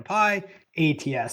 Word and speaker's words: pyATS: thing we want to say is that it's pronounced Pi like a pi ATS so it's not pi x or anything like